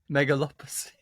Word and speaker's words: Megalopolis: Megalopolis. Nope. Megalopolis. It's Metropolis with the word mega at the beginning.